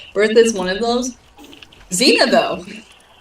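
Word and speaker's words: Cena: So, yeah, my great grandma's Yeah, my great grandma's um mom's name is Zena. Zena. Yeah, it's spelled C E N A, it's very interesting.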